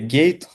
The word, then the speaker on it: Gate: з цим пов'язана тобто Gate to US GA читається з англійської як Gate тобто ворота в США